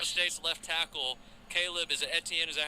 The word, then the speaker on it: Etienne: oh my Oklahoma State's left tackle Caleb is ATN is that how you say it Etienne yeah started 13 games from last year's enter